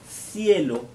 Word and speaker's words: cielo: Le premier, c'est le son des lettres C, CE, CI ou Z. Pour les prononcer, il faut que vous mettiez la langue entre les dents. Cecilia, Zorro, Cielo.